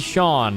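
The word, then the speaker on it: Sián: This is the Lamborghini Sean. I think that's how you pronounce it.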